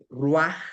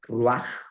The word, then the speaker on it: ruaj: Entonces, fíjense, aquí yo puse la palabra ruaj. Se se la che se pronuncia como j ruaj.